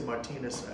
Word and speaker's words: Martinez: Uh, they would say Martinez everywhere else in in the country, but we say mart the French pronunciation in New Orleans.